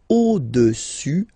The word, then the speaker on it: au-dessus: Le cube est au-dessus, final S not pronounced here, au-dessus du cylindre. Okay?